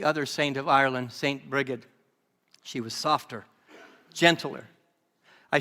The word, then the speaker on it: Brigid: more about St briged St briged sometimes that people say say Bridget but ail tells me it's mispronunciation Bridget sounds so much